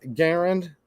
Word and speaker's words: Garand: You can say M1 Garand if you want, but I believe the person, John Garand, I believe that's how you actually pronounce his name, who's a Canadian.